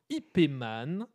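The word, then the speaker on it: Ip Man: Donc pour la bonne prononciation, je vais dire IPman pour que tout le monde la note bien parce que j'ai vu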